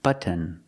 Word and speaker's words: button: this button right here don't pronounce the word button button it sounds more natural if you say say button Buton how do you do it well the t is a stop T so you put your tongue up to the roof of the mouth and stop the T stop the air but and then just